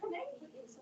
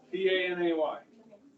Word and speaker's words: Panay: How do you spell that? It was Panay. P-A-N-A-Y.